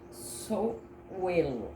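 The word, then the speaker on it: Sowilo: nome, para quem me acompanha aqui, que chama Souelo, é a pronúncia.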